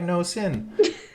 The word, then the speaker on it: nosin: Fun fact, hashtag no sin. Or the cool kids pronounce that nosin, kind of like resin.